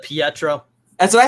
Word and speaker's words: Pietro: in in some ways i'm the only one that pronounces it pietro that's what i said